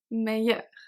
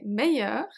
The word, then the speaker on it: meilleur: Don't forget that all of them are pronounced exactly the same.